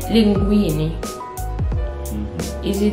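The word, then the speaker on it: linguine: Let's say linguini. Mm-hmm. Is it linguini or linguini? Linguini. Linguini, so you need to say, you need to spell the hard G in that word, linguini.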